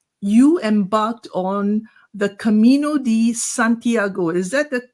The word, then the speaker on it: Camino Santiago: get the pronunciation right you embarked on the Camino Santiago is that the correct pronunciation yeah exactly okay you went on that